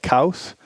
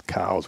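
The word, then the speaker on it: Elliot Coues: and I said well how do you pronounce your last name it's and I say like Co WS not like cows and not like coos no it's cows we it's always been cows so the deer is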